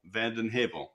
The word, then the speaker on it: Vanden Heuvel: It's Vandenhavl which is Dutch. A little different than it's spelled.